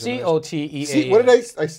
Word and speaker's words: Coteau: Coteau is C-O-T-E-A-U. C-O-T-E-A-U. Thank you. Yeah. Why did I put a K in there? Oh, that's phonetically.